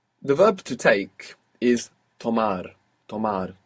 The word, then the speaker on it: tomar: The verb to take is tomar.